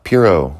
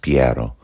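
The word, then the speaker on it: Piero: the ocean blue uh Piro was the next Medici to take the reins of power or I guess his name would have been pronounced piaro but he found himself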